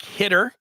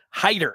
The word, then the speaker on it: Heighter: Virginia named Savon heighter now heighter it looks like hitter if you're looking at his name but uh you look at his social media and he gives you the pronunciation right there on his Twitter page and it it leaves nothing to uh the balance it's spelled out Hider so cvan Haider highly